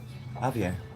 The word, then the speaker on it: Javier: Silent J. Javier.